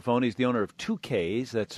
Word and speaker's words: Tukaiz: is on the phone he's the owner of 2ks that's spelled t k a i z it's a